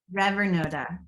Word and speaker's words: Revenoda: So, Rivenoda. Yes. Is that how you pronounce it? Yes. 'Cause I want to make sure I'm saying it right. I pronounce it Revernoda. Revenoda.